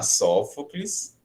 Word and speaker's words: Sófocles: Alternativa A, Sófocles, tá? B, Ésquilo, são palavras aí, gente, paroxítonas, né? Então, prestando atenção no acento, ele vem na antepenúltima sílaba, então ela tem que ser a mais forte. Sófocles, Ésquilo, né?